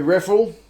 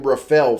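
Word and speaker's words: Reffell: gone with uh tommy raffel still got to get that guy's pronunciation right i'm used to calling him rafael from the premiership but apparently that's not right uh i think he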